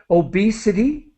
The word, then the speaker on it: obesity: let me help you obesity obesity with an e sound obesity diabetes diabetes diabetes